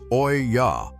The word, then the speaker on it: olla: Olla pots, spelled o l l a, pronounced oya, are unglazed clay vessels.